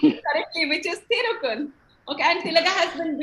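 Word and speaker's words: Thirukkural: practiced it almost like 100 times to even pronounce it currently which is thirukul okay and tillaga has been beating me hard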